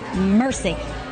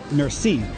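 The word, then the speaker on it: merci: you say thank you Mercy it's not Mercy it's more like Mercy Mercy okay that's better okay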